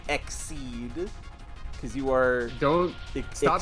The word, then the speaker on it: Xyz: a by the way cuz it's meant stop saying lies to me it's meant to sound like exceed cuz you are don't